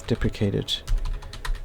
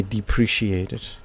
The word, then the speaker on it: deprecated: And we wonder how that is pronounced. Deprecate. Deplicate. Deprecated. We were correct cuz we did see some YouTube content creators say depreciated.